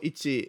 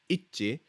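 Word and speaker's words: 一致: So it's not Ichi. Ichi. It means together, okay?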